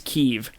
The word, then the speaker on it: Kyiv: The other thing that I do want to say is that it's not Kiev, it's Kyiv. Kiev is... Like, Kiev, spelled K-I-E-V, is the Russian pronunciation and spelling of that city's name.